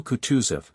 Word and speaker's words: Kutuzov: "General Kutuzov," said Bolkonski, speaking French and stressing the last syllable of the general's name like a Frenchman, "has been pleased to take me as an aide-de-camp.